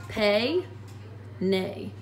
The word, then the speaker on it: peine: here our comb is el peine el pay nay just kind of help you with those vowels um you can write